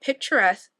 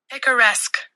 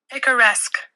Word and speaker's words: picaresque: Let's figure out how to pronounce this word, because I've been thinking that it said picturesque. Hold on. Picaresque. Okay, one more time. Picaresque.